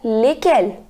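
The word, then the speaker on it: lesquelles: the fourth one is again likkle which has the same pronunciation likkle and likkle but now the fourth one contains double l es so while writing it makes a difference but while speaking it is same legal masculine plural a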